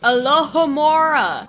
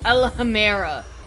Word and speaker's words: Alohomora: Besides, you're saying it wrong. It's Alohomora. not. Alhamera. Well, at least I finally learned it. Do I just walk up to it? Oh. Alohomora.